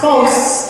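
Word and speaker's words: φῶς: Let your light, pronounced phos in the Greek meaning to shine or make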